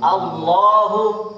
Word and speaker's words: আল্লাহ: জবর আর পেশ আল্লাহর নামের আগে পেশ হচ্ছে কিনা এই দুই অবস্থায় এই উচ্চারণ করার সময় নামটা মোটা হবে সুবহানি সুবহানাল্লাহি